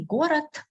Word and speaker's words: город: So this is just to understand why, for example, I say город, but I write letter D instead of T because it is the last letter and we lazily pronounce it as a dull sound.